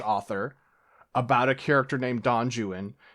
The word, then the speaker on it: Don Juan: And you're hearing me say that and you're like, "Well, Six, clearly it's Don Juan." Yes, but the guy who wrote it was, you know, a fool who didn't know anything about Spanish. And so, he says it's Don Jewan and that's what the